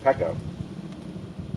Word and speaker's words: Pekko: It was 2 syllables, easy to say. Pekko. And it kind of rang true with the homebrew past. And that name just stuck instantly. Pekko.